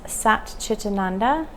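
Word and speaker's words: Sat Chit Ananda: And this is what the yogis talk about as Sat Chitananda, 3 syllables, Sat, truth, Chit, C-H-I-T, is consciousness, and Ananda is bliss.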